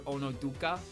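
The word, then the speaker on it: Onozuka: Komachi, sometimes I call her Onoduka because she also has a character in her name with a outdated pronunciation that you can pronounce that has a D in it.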